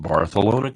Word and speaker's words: Barcelona: left from barcalona to Spain and yes I pronounced barthelona correctly the yeah they discovered the new world